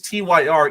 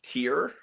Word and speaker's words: TYR: What does TYR even stand for and what is the actual